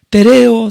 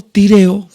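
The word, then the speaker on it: τηρέω: en el texto es la palabra tereo tireo como como quieras pronunciarlo dependiendo qué escuela del del griego has aprendido ahí pero hermanos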